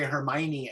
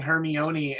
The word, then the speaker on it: Hermione: the time but I didn't know how to say Hermione I was saying her me oniy until I saw the movie ten years off yeah